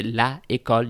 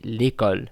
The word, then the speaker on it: l'école: which is a vowel, you would not say la école, you would say l'école. It flows better phonetically, l'école.